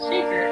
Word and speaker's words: Shekhar: You know, I say my name as Shekhar.